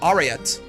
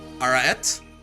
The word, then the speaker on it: Arete: Also stress the second A. Arete? Is that right? I feel like I'm in a linguistics class right now. Arete? Yes? Okay, Arete.